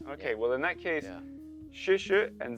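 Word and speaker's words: 谢谢: 谢谢. 谢谢.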